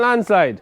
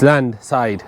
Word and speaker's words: land side: Have you bolts for that landslide also? I said it wrong. It's land side, not land slide.